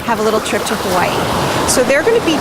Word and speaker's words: Hawaii: that's how they say hawaii it's spelled with a w but they say hawaii like it's a little bit pronounced like a v so if you want